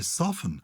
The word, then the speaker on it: soften: Maybe it should be without pronouncing the T. I've always said, because I say soft, but I don't say soften. No. I say soften.